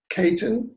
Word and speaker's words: Caton: of that second sound here uh am i pronouncing your last name correctly you've got a ready it's great Kayden hmm yeah and his his book is the